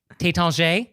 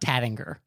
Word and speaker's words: Taittinger: But then as long as we're talking about champagne names, Taittinger, it's not Tattinger.